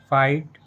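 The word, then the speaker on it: fight: जैसे लाइट नाइट फाइट माइट ब्राइट कॉट फॉट taught what thought in सभी words में word के last में जीएस टी लेटर आया है। और जीएसटी लेटर में जी एच साइलेंट है।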